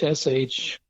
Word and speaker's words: Syringa: Now, confusingly, Philadelphus coronarius is sometimes called Syringa, usually pronounced Shringa, which happens to be the common name for lilacs.